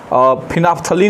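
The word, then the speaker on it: phenolphthalein: Litmus paper से पता कर सकते हैं, मेथिल ऑरेंज या मेथाइल ऑरेंज बोलिए, मेथिल ऑरेंज, फिनाफ्थलीन इसको बोलते हैं। स्पेलिंग देखिए PHENOL PHTHALEIN, फिनाफ्थलीन।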